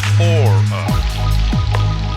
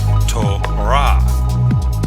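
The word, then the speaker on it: תורה: So when we say this Hebrew word in English, we usually say Torah. But in Hebrew, the closed syllable comes at the end, so in Hebrew this is pronounced Torah, a Hebrew word with 3 letters.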